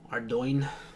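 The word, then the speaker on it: Ardougne: Ardoin. I pronounce it Ardo because I mean that's definitely the French way to pronounce it.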